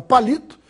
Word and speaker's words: palito: proposta que sempre a palavra palito tenha silva mais forte na penúltima sílaba lhe portanto é uma